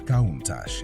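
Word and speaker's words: Countach: never been seen before the name kunach is pronounced as kach and simply means wow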